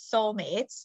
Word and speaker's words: Seoulmates: to talk about is soul mates but that's like Soul as in South Korea although am I pronouncing